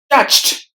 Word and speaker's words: touched: does that sound virtues touched touched the letters o and E are silent and letter D at the end is replaced with the T sound so touched touched masses masses the letter